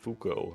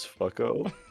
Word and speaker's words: Fuko: episode was about, and he pronounced the character of Fuko. Her name is Fucko, and we're both just like, Fucko, really, David?